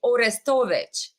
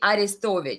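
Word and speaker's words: Arestovych: uh if you pronounce his uh euchronized version of his name is Alexi orestovic and Russian version of his name is Alexei aristovic so um he recently has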